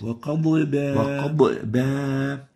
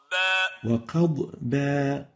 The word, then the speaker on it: وقضبا: A third mistake is giving qalqala to the bad, like this. وقضبا. While the right way of pronouncing it is like this. وقضبا. قضبا. Without qalqala, without stressing it so much. You have to make sure to keep the bad loose and avoid giving it qalqala.